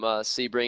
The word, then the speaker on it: Sebring: you guys know not real far away from Sebring and I've heard locals that live there because